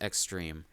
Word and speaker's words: Xdream: So yeah, and he wakes up transformed into his extreme form. Xdream is how it's spelled, but it's pronounced extreme.